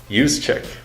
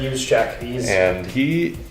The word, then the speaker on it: Juszczyk: But the Ravens have a great one in Kyle Juszczyk. I think that's how you say it. Yep, Juszczyk.